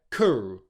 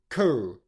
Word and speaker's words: career: So you've got the first syllable there, cur, cur, cur.